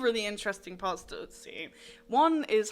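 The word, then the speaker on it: Ötzi: But I wanted to do some research on a guy called, I think it's pronounced Utsi. Is he Turkish by any chance? No, he ain't Turkish. Utsi the Iceman.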